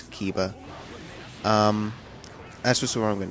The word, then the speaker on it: Kiba: And I think that Kaiba, crap, man, I really have to figure out the proper pronunciation. I think it's Kiba.